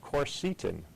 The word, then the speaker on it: quercetin: my favorite nutrients is something called quercetin or sometimes pronounced corcetin this is a potent